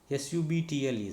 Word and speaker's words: subtle: as thumb, and then when T happens after B, then also B is silent or B is silent. That is DEBT, det, DOUBT, doubt, SUBTLE, subtle, like that.